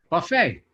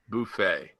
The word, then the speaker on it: buffet: Buffet. Buffet.